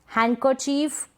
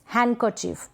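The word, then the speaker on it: handkerchief: जैसे कि Wednesday, handsome, हैंडकरचीफ, sandwich. Sandwich ये गलत प्रोनाउंसिएशन हो जाएगा। सैंडविच, हैंडकरचीफ, हैंडकरचीफ, डी यहाँ पर साइलेंट है, तो ये जो कुछ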